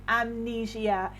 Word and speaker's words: amnesia: you tell me amnesia amnesia or amnesia actually amnesia is the correct pronunciation amnesia so over here amnesia is a